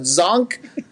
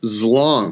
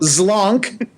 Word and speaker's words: Zlonk: Zonk? It's pronounced Zlonk. Zlonk. You got to get the L in there.